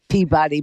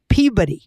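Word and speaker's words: Peabody: what Susan pebody Massachusetts that's not how you say it Ken you're about to fall in love with me he is from pey that is how you say it pey pey not peab it's pey uh Ken I am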